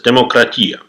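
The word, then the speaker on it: δημοκρατία: As of today, almost everyone knows that the word democracy came from ancient Greece, where they used to pronounce it as demokratia.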